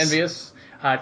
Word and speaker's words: EnVyUs: I've never known how to pronounce it. Is it Team EnvyUs? I've always called it EnvyUs. Yes, EnvyUs.